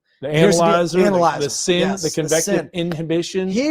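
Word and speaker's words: CIN: Now, we're saying sin and it's like, oh, we're sinning here. S I N. No, this is spelled convective inhibition, which is C I N.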